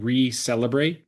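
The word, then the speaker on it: Reclebrate: Our our our clinic and brand is called Receleelebrate because you're celebrating the renewal of yourselves. Love that. And that's spelled R E C L E B R A T E.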